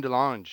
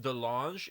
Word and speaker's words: DeLonge: his name is French, and it's pronounced DeLonge in French, DeLonge. but the American tongue is DeLong. DeLong. Yeah, like long DeLong.